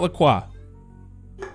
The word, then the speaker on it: La Croix: great but key lime it's lacroix it's not lacroix it is not lacroix let's get we're going